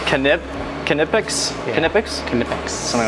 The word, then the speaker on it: Knipex: I would say Knipex, but it's Knipex?